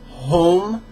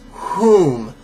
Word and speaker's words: whom: syllables no waiting whom it sounds like you're saying home like where do you where are you going i'm going home but it's whom like um to who we were